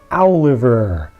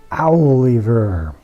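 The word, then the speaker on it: Owliver: on the left is aliver aliver like Oliver but spelled with an owl at the beginning of it cheesy that's also the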